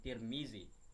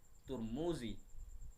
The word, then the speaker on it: Tirmidzi: Sungai jihun dibuka ra untuk menyebutkan nama beliau boleh diucapkan dengan Tirmidzi turmudzi dan Tarmizi Kitab Hadis San ini